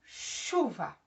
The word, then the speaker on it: chuva: Vejam, por exemplo, quando eu digo chuva. Olha o CH. Eu pronuncio o C e o H? Não. Eu pronuncio chu. Olha, o som é de X.